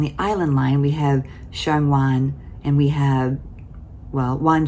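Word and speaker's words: 上環: Same Wan, but one is pronounced Shang Wan, and one is pronounced Chai Wan.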